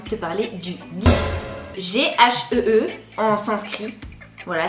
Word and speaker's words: ghee: G-H-E-E en sanskrit. Voilà, ça se dit ghee. Guy. Comment? Guy. Comment ça se prononce? Guy. C'est plus Guy.